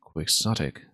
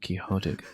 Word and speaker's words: Quixotic: I accept both Quixotic and Quixotic, and as in Don Quixote de la Mancha. But a lot of people in English will also say Quixotic. That's more common, in fact.